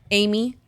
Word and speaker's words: Ayme: So my name's Ayme. Amy, but it's spelled different.